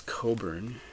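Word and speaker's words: Cockburn: an artist called Bruce Coburn and if Gary from physical format rock and roll is watching Gary I just want to remind you of the pronunciation c-o-c-k-b-u-r-n Coburn just so you get that right I know you struggle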